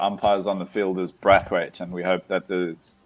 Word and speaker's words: Brathwaite: Is the umpire a Brathwaite or a Braithwaite? Because it's a Brathwaite with only the one. Yeah, it's spelled the same way as Craig. Brathwaite. Okay. Because Carlos and Craig are spelled differently, aren't they? They're different Braithwaites. So no, it's a Brathwaite. It's just Breath, and then Carlos has